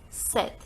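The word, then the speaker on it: sept: thing in number seven we don't pronounce this P we never say except the pronunciation is set so we are not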